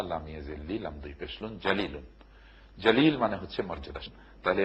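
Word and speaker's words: جليل: কোরআন তেলাওয়াতের এটা একটা প্রাথমিক দায়িত্ব আমাদের, যে কোরআনকে সহিশুদ্ধভাবে আমরা তেলাওয়াত করতে শিখব, এর উচ্চারণকে আমরা সঠিক করব। যেমন ধরুন জালিলুন, জিম জবর জা, লাম ইয়াজিল্লি, লাম দুই পেশলুন, জালিলুন।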